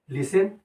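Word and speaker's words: listen: दे रहे हैं एल ए एस ए एन लिसन ऐसा हो सकता है लेकिन नहीं रियल में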